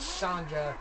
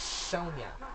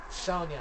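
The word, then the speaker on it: Sonja: to pronounce her name s onj a Soviets not soldier not Sandra it's not any of that it's Sonya Sonya I had a friend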